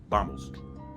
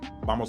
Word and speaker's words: vamos: same sound you know vamos that's spelled with a v but it's pronounced b vamos vamos a la casa coming